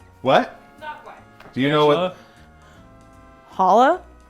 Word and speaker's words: challah: is it yeah what do you know what challah it's spelled c-h-a-l-l-a-h breakfast yeah it's it's Hollow breakfast